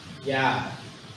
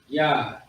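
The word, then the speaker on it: יד: All right, the Hebrew word is Yad. Yad. Y-A-D. Yad. It's not Yad, it's Yad. The Ya, so Yad. That's how you pronounce it.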